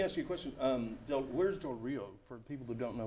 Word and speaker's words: Del Rio: It's And how do you pronounce the name? D-E-R, Del Rio?